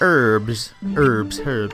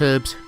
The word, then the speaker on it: herbs: I found out recently that there are certain countries in the world, or certain English-speaking country in the world, that pronounce herbs without the H.